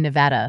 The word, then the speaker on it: Nevada: Number Nuts band, but and Nevada, Missouri instead of Nevada.